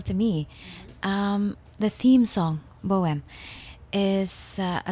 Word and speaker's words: Bohem: So the album Bohem, am I saying it right?